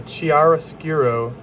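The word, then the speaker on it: chiaroscuro: The Chiara Skiurro technique is what, um, Carvajio used and it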